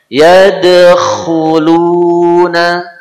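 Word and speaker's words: يدخلون: Huruf kha ada suara serak di sana. Yadkhuluna. Coba. Yadkhuluna. Jadi yadkhuluna.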